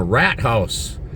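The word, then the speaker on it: Rathaus: in our city hall is called the rat house and it sounds like you're saying rat house and that's exactly how it's pronounced and the first time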